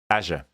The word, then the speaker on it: Azure: And if that was Explore Azure, then it wouldn't rhyme. And so clearly they've picked this little slogan because it rhymes. So it's meant to be Azure.